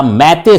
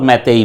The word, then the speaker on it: मैतेई: जिसे हम कहते हैं मैतेई या मैते समुदाय। प्रोनाउंसिएशन जो है वह मैते भी होता है और मैतेई भी होता है।